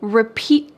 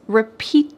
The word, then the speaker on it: repeat: Usually when we say the word repeat, it's the final part of the word that's emphasized. Can you repeat that please? Repeat that.